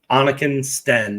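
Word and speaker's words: Anniken Steen: I don't know get good Kristen Anakin it's Anakin Sten is how it's pronounced Walker got it um but I'm an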